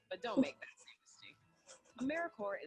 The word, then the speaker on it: AmeriCorps: to say or spell americorps sometimes people pronounce the people but don't make that mistake americorps is alive and well just spelled with a silent p so think of apple